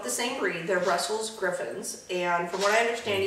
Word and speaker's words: Griffon: same breed they're Brussels griffins and from what I understand even though that's spelled Griffon most people pronounce it Griffin and mv's name what